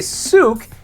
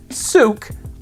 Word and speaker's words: Sooke: So the way to say Sooke is it rhymes with Duke, right? So Duke, Sooke, or Toque if you live in Canada.